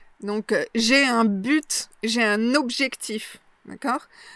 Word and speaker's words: but: Donc, j'ai un but, j'ai un objectif. D'accord ? Donc, j'ai un but, j'ai un objectif. Moi, je prononce le T, un but.